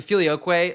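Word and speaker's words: Filioque: I mean, listen guys, the filioquay, like Filioquay literally like rhymes with gay.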